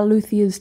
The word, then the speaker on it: luthiers: anything that they have, or lots of guitar luthiers too.